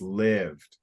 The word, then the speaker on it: lived: was saying that okay if there's one consonant then maybe the E uh is silent and that turns it like to like live arrived but it isn't okay so it's lived so so English is